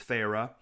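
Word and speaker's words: Feyre: r e you're like how do you pronounce this is it fair is it fire is it fairy Fair fairy um one of the sisters says please Farah she Drew out the two syllables of my name farra into the wine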